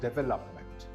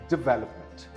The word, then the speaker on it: development: This word is development. I hear many people pronouncing this word as development. That sounds terrible. Actually, this is development. Again, development.